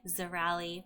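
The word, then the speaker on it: Cirali: Zirali, pronounced with a Z sound, even though it has a C.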